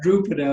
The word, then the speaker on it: Drupada: I wrote to Drupada Drupada of course is the way to say his name we've got a